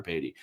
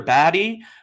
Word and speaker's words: Batty: Someone did some research and found some old one, and they were like, "Is it Tyler Batty or Tyler Beatty?" And he was like, "It's Beatty." No, I know.